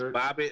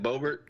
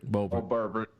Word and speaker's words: Boebert: Is Bobbitt? Hold up, Manchin. Isn't that Boebert? Boebert.